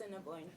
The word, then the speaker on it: Assiniboine: Is that, how do you pronounce that? Assiniboine.